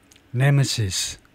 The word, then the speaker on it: nemesis: 그 엑센트 위치를 확인해 보겠습니다. 네모시스 아 그래 가지고 발음을 들어 보려면 미닝까지 해야 발음을 들어볼 수 있는데 예스 첫 번째 실리버리 엑센트가 있네요.